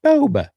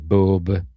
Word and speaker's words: Boba: Although she says Boba. I've always said Boba. I think they said Boba in the original trilogy, don't they? And then over the years, it's ended up becoming Boba.